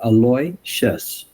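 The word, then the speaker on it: Aloysius: many times and he asked him how to pronounce his name and he said aloy ches and I have been criticized for not getting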